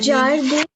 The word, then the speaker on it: jardin: IN, Jardin. no, IN is pronounced as A. So it is jardin.